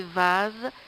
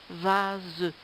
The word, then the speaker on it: vase: Et en dessous, vous avez vase, ça s'écrit S-E, mais ça se prononce ze, vase.